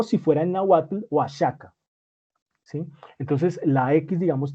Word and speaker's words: Oaxaca: oax acá sí pero se lee realmente oaxaca si con jota o si fuera en náhuatl oaxaca si entonces la equis